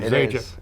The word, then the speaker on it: Zajic: First of all, is that the correct pronunciation of your name, Zajic?